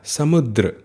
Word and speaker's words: समुद्र: पर्वत फिर है द्रव जब रेप नीचे लगी हो तो व्यंजन के बाद आधार का उच्चारण होगा समुद्र ठीक है ना फिर